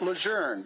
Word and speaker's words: Lejeune: It's absolutely incontrovertibly pronounced Lejeune by the General and his family.